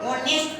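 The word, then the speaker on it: honest: यहाँ से वोवेल नहीं है, लेकिन यहाँ एच साइलेंट है और ओ ऑनेस्ट पर तो ओ वोवेल है, इसलिए एन लगा।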